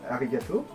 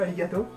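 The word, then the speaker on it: ありがとう: Arigato. Voilà. C'est pas alligato, non? Ouais, c'est ça. Je prononce pas alligato.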